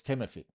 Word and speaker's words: Timothy: And no, I am not mispronouncing his name. It's Timothy, okay?